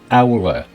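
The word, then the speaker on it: alr: Owler in old English pronounced owler.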